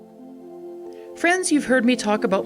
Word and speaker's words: Frend: I've got a very special guest in Rachel friend now is it actually pronounced friend yes perfect there we go how